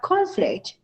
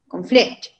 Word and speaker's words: conflict: as a verb and where do you place the stress on nouns if you have the same word the first on the first section and you place the stress in which syllable or as a verb in the second conduct on the second syllable word so we have conflict